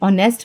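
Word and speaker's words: honest: एच इन ऑनेस्ट जैसे ऑनेस्ट में एच जो है वो प्रोनाउंस नहीं होता।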